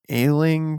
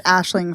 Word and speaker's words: Aisling: And this stars James McAvoy, Mackenzie Davis, Scoot McNairy, and Ailing Franciosi. Is that how you say it? Franciosi? It's Aisling Franciosi.